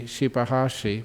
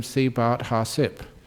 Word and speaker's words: Shibahashi: His name was actually Shibahashi, but Ajahn Chah could not pronounce it, and so called him Sibat Hasip.